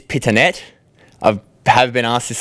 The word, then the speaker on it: Pittonet: So what's the correct pronunciation of your surname? Is it a fine wine or? It is Pittonet.